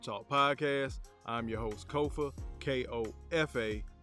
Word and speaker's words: Kofa: podcast I'm your host Kofa k-o-f-a not coffee not Khufu not Kofi or any variation there of Kofa rhymes with sofa it's easy to say